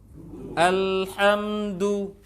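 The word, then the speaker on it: الحمد: Kalau kurang monyong, kurang pas dhammahnya jadi do. Alhamdulillah, alhamdulillah, alhamdulillah, alhamdulillah. Ya, du. Alhamdu.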